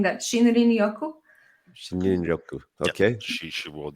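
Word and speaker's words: shinrin-yoku: pronouncing that. Shinrin Yoku.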